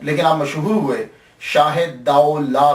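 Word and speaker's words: دولہ: ये लफ्ज प्रोनाउंसिएशन दाऊ ला है। दूल्हा नहीं है। ये सबसे पहले याद रख लीजिएगा कि ये दाऊ ला है। दाल ज़बर वा साकिन दाऊ और लाम अलिफ ला है।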